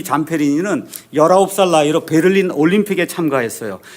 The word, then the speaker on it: Zamperini: 이 자서전은 루이 잠페리니라고 하는 사람의 자서전이에요.